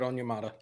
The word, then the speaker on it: Onyemata: David Onyemata? You got it. David Onyemata.